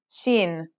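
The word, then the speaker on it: شين: The next letter we learn is shin. This one is pronounced just like the English sh in the word shovel.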